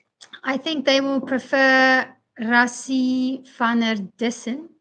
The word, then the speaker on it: Rassie van der Dussen: I think they will prefer Rassie van der Dussen. That's the correct pronunciation.